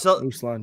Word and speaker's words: Uslan: from Stan's mind with the help of Michael Uslan, I believe is how you say it. Uslan, yeah.